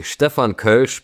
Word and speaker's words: Stefan Koelsch: Absolutely. Stefan Kersh but I know it's almost impossible to say it like that for a native English speaker. It's no problem.